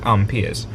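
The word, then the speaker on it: ampere: is measured in amps proper proper way to say it ampers.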